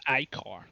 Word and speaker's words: ichor: He's effectively gargling black ichor. It is blood, but they don't have normal blood. Actually, And it's pronounced Icar. ichor, I say ichor, fuck off.